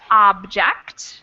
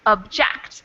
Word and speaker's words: object: We Um, have an object, and the second one is object. Lawyers often object. So the second syllable in the second word is the emphasized one, and in the first word, the first syllable is emphasized.